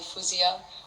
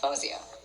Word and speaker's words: Faouzia: but the thing is my parents like moroccans arabs will call me fouseya or fawziya and so that's how it's pronounced at like home but i kind of like constructed this like way to say my name ever since i was younger and so my name is pronounced fawzia and that's how i would prefer it to be pronounced because i said we